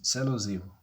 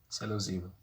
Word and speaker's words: Sélou Zibou: It's Sélou Zibou. Sélou Zibou. Simple as that.